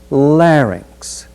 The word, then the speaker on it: larynx: sentence is larynx the voice box is the larynx this word is so often mispronounced that in some of our speech communication